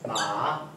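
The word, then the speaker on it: 马: of Chinese so this this word here it's pronounce ma it means horse in Chinese M like a like you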